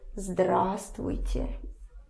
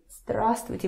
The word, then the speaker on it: здравствуйте: Just remember that here you for some reason don't pronounce this V.